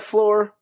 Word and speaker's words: Flore: That's lore with an F at the beginning. So it sounds like floor, but it's not the floor you're thinking because it's our floor.